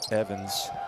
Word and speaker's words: Evans: Shannon Evans rhymes with heaven, and sure enough, he's got his celebrations down.